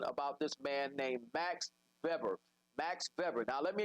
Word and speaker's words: Weber: is he pronouncing it bever and it clearly says weber well in german his name is pronounced bever so if you want to call him a weber you can but his